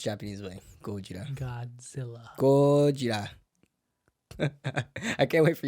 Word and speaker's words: Gojira: Gojira. From now on, that's how we pronounce Japanese way. Gojira.